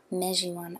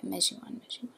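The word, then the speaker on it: Mejiwahn: Mejiwan. Oh, wait, what is he? Sorry, I don't know what he's going by in the... Okay, yeah, Mejiwan.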